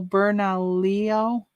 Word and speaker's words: Bernalillo: yeah they're in like a whole neighborhood oh bernalillo is how you say it yeah oh gosh